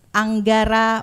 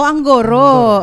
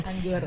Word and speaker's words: Anggoro: Kita bersama dengan Mbak Anggara selaku Anggara. Oh, Anggoro. Oh, iya orang Jawa ya. Anggoro. Kita kalau orang sini bacanya Anggara.